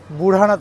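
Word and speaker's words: Budhanath: ডি এইচ এ বুধানাথ কিন্তু এখানে উচ্চারণটা হবে বুড়ানাথ মন্দির আর আমার পেছনে রয়েছে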